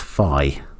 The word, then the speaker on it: phi: So we're defining the number of elements in that set as phi. Phi rhymes with I.